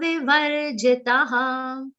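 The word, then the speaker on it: विवर्जितः: Visarga will be pronounced like sa. Samasanga vivarjitaha.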